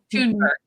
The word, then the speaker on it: Thunberg: Is, you look at the youth about, I think about Greta, is it Thunberg? Thunberg. That's how you say her name.